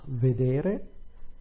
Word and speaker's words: vedere: Vedere, the stress is on the penultimate syllable, which is what you would expect.